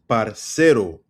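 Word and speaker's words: parcero: So, first word is parero, right? You you can see my uh pronunciation right here. The emphasis is on the s parero parero right not parero not parero it's parero all right or par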